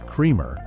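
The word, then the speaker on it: Krempkau: A lawman named Gus Kremer, who was pronounced Cremer, hired a man named Dallas Stenmeer, pronounced Stenmire, to be the new town marshal.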